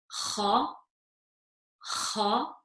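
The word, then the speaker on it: خ: Okay, so with the top of the throat, we have the letter kha, and we have the letter ghain.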